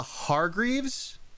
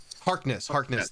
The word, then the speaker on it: Harkness: and she is Agatha Hargreaves. Is that correct, Sean? Harkness. Thank you. I said that wrong the first time. I said it wrong again the second time. Just like a Captain Jack Harkness.